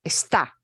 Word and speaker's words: está: Whenever you see a little accent mark in my files, it means you punch that sound a little bit harder than the other syllables. So, ¿cómo está?